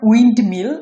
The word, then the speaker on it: উইন্ডমিল: পরে উচ্চারণ wind mill, এটা উচ্চারণ হবে wind mill, wind mill, উইন্ডমিল। মাঝখানের যে এন এবং ডি এই দুটো মিলে যে এন ড উচ্চারণ হচ্ছে সেটা কিন্তু এখানে থাকতেছে না একদমই।